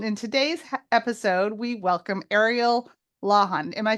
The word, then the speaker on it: Ariel Lawhon: Jane Healey and in today's episode we welcome Ariel lahan am I pronouncing that right yes you did it perfectly